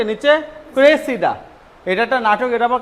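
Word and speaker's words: Cressida: Shakespeare লেখেন এটা হচ্ছে টোয়েল হাসান ক্রাইসিডা এটার উচ্চারণ কি ক্রাইসিডা আর এটার উচ্চারণ কি নিচে ক্রেসিডা এটা একটা নাটক এটা আবার কার লেখে আমাদের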